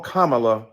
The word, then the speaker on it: Kamala: to the congresswoman who insisted upon on misnaming mispronouncing kamla Harris do you call Melania Melania do you call Ivanka Ivanka then call Kamala Kamala then call vice president Harris vice president